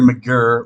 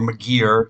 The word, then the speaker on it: McGirr: He met up with an Irish priest, Father Peter McGirr, or McGeer, however you want to pronounce it. I'd say McGirr, but I've heard McGeer, so maybe that's how it is pronounced.